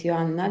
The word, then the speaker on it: Joanna: already know my name is my name is Johanna this is actually how you pronounce my name in my English in my